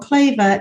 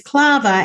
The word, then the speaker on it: Clava: people call me Claver all the time um that's okay um it's not the biggest thing that could happen but I can go plava not Clover it's clava and people can can pronounce